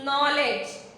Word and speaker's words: knowledge: So, dear students, kindly write number 3, wisdom, which means knowledge. K and K is silent.